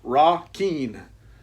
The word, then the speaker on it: Requin: Requin, pronounced Ra-Keen.